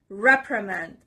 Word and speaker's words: reprimand: word is reprimand reprimand this ver is on the first part reprimand it's a noun and